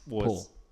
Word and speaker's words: Pwyll: Pool? Pwyll? Yeah, it's Pool.